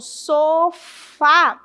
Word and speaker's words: sofá: Se eu falo sofá, a última sílaba é a forte, é uma oxítona, certo?